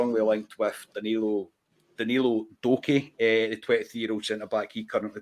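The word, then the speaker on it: Doekhi: Was it Duke or did you say his name? No, Danilo Doki. Doki. Yeah. I was actually Duke there.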